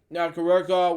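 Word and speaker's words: Nakahara: Nakarara, we pronounce it, was born in Honolulu, Hawaii.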